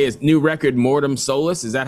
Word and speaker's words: Mortem Solis: guys all I can say is new record morm soless is that how you pronounce it yes yes yeah great yeah I